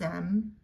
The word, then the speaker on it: aiment: So these first three sound the same: aime, aime, aime. Nous aimons, vous aimez, ils aiment, elles aiment.